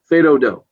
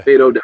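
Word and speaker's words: fais do-do: Fedodo. F-A-I-S-D-O-D-O is the way you see it spelled most of the time. Yeah. Fedodo. If you see a S, you don't pronounce it, right?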